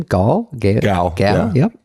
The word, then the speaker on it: Gal Gadot: Gal. Yeah. Yep. Gal Gadot.